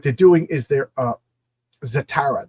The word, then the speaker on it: Zatara: doing is they're uh zatara that's how you pronounce it it's a tera so it's it's estrogen